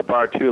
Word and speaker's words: Bartoo: Hey, the Bartoo, it's actually pronounced Bartoo, like Bar 1 and Bar 2.